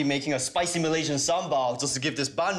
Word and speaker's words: sambal: Sambal, pronounced sambal, is a great accompaniment to Asian-y food.